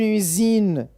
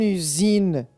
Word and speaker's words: usine: le son ce une usine une usine oui la lettre S se prononce comme Z car elle se trouve entre deux voyelles une usine gris oui